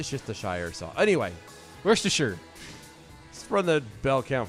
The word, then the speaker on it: Worcestershire: Hutchins over on Twitter's uh how do you pronounce worcestershire sauce it's a good question yeah how do